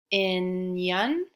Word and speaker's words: opinion: It's kind of a funny thing because that O doesn't say a long O and it doesn't really say a short O. It just kind of says like a O, opinion. It kind of says an sound, doesn't it?